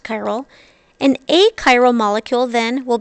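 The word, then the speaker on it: chiral: first we introduce this new word chyal it's pronounced like that chyal a chyal molecule is one that will be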